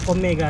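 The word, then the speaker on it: Ofmega: too Omega ito Ayon off Mega yyung spelling pero Omega silent f siya talaga OP Mea Omega Omega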